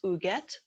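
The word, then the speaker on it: Huguette: diamond diva this month her name is ooget clark it's spelled e t t h-u-g-u-e-t very french last name was clark uget was born in 1905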